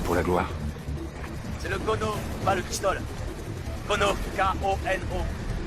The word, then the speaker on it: Kono: Le Kono, ça s'écrit comment ça? K-O-N-O, comme ça se prononce.